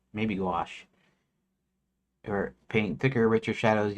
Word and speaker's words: gouache: I think it's gouache. It'll it'll it'll say it rhymes with squash or something, right? rhymes with squash or wash.